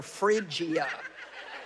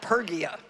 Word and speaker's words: Phrygia: getting it wrong and he had to say no think of refrigerator phrygia because i would have called it pergia and look god's using